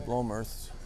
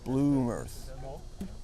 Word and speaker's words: Blomerth: I guess you mispronounced Dan Blomerth. It's Bloomerth. Bloomerth. I thought you might have said it wrong. But I also thought it was Blomerth, not Bloomerth.